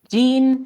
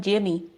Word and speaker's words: Gean: Gene Van Horn, or if you're Gene. Latino, a lot of Latinos call him Jimmy.